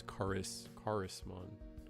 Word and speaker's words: Charismon: I think it's meant to be pronounced like charisma. So charisma. Let me see. Let me double check. Oh, so it's Charismon.